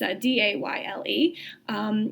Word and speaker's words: Dayle: So today I am talking about Mackenzie Dayle, and I think that's how you say her name. It's Dayle.